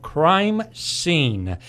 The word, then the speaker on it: Crimeseen: Paul is with Edmunds Security, Inc., but more interestingly for our listeners today, he has developed a website called Crimeseen, and that is spelled S-E-E-N.